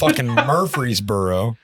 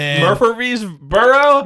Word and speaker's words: Murfreesboro: in the middle of like Murfreesboro what Murfreesboro get that breeze burro I said it right